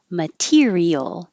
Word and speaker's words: material: unbelievable that's unbelievable material now this T is between two vowels this is what we talked about I'm trying to remember but it won't change to a d because it's in the stressed syllable so it stays a t material okay I looked